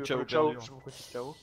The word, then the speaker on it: Chao: Bon, je sais qu'il y a beaucoup de Français qui prononcent ça chaos, alors que je sais que dans, moi, la, je chao, donc, voilà, dans la communauté américaine, c'est. Ouais, c'est chao, ils disent. C'est chao, c'est prononcé comme ça, par et même par les doubleurs en fait.